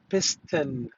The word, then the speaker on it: piston: keep in mind that it is written in this way to be pronounced with N, not L, not M, piston.